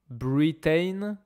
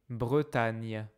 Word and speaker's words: Bretagne: Attention à la prononciation Bretagne. C'est pas Britain, c'est pas Britan. C'est pas bretager, c'est Bretage. Bretagne.